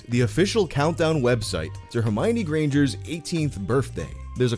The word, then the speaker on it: Hermione: First of all, her name is pronounced Hermione, not Hermione. You can remember where the accent goes because it's on the my, as in Hermione is my girl, not yours.